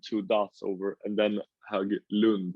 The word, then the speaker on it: Höglund: Because it's my last name is Höglund, like a O with two dots over, and then Höglund, like with a U.